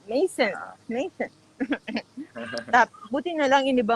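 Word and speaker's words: Maison: Kung i-pronounce mo parang. Mason.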